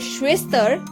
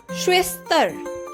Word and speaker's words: Schwester: The German word Schwester means sister in English. And its pronunciation is Schwester.